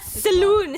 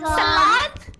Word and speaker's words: salon: going to make I'm going to open a saloon Salon how how that pronounce Saloon Salon sal sal Salon that's how we pronounce that word okay Saloon